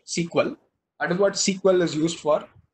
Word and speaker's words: SQL: That is what SQL, that is SQL, it's actually pronounced SQL.